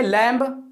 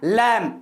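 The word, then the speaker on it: lamb: English में exam बीबी इसको क्या पढेंगे लैंब वाला इसका करेक्ट प्रनंसीएशन होता है लैंप यानि भी यहां पर जो है वह साइलेंट है बी को पर नॉर्म्स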